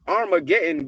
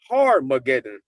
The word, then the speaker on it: Armageddon: But in Revelations 19, we hear Armageddon, but that is a mispronunciation of Harmageddon, and it's Harmageddon for the gathering on high.